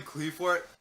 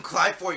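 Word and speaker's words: Qliphort: just like, I'm playing Cleafort, wouldn't be like, it's freaking Clyfort, you nerd. You uncultured swine. Uncultured swine. Nah. You can call it however you want, but the correct pronunciation is Cly.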